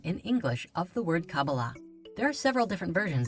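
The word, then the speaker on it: Kabbalah: in the Hebrew alphabet these four letters together are pronounced cabala however the most common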